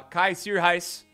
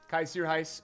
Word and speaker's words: Kaj Sierhuis: testing out today uh kai sir heist kaiser heist is how you pronounce it uh just like that announcer there that you may have heard but kaiser heist is this correct chat i have a